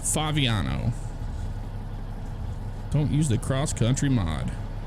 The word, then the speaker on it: Favignano: Braden, it's pronounced Favignano.